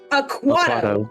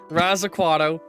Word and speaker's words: Aquato: and you keep adding syllables to Raz's name. what? How is it pronounced? Aquato. Aquato. Raz Aquato. Rasputin Aquato.